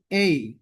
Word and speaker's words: A: তো এর মধ্যে প্রথম যে লেটারটি আছে এটার উচ্চারণ হচ্ছে এই।